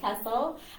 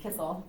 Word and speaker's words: Kissel: Kevin Giza and Kessel. And so I'm going to let them talk a little bit about, I said your last name wrong, didn't I? It's Kissel. Kissel.